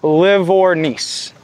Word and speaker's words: Livornese: Livornese. So it's liver and then niece.